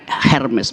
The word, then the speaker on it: Hermes: Hermes itu dewi yang dapat tugas untuk menafsirkan perintah langit kepada manusia dan sebaliknya keinginan manusia pada Tuhan. Namanya Hermes, bacanya Hermes. Yang sekarang jadi tas merek mahal Hermes.